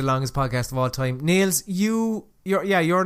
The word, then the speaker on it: Nailz: I'm going to pronounce it that way because he capitalised the Z and also spelled like Naylz. It's not. It's the man is Nailz. I know, alright. Nailer, yeah, fair enough. No, it's Nailz. Nailz. That's it, alright?